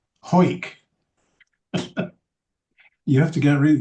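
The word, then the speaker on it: Hawick: a disappointment to you, the pronunciation of that Scottish name, H A W I C K, is Ho. Yes. Ho.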